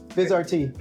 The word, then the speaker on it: Vizrt: So, Viz RT. Yes. Thank you for pronouncing it correctly. Makers. What? We're not calling it new tech still. Uh or Vizer or anything else that we keep hearing?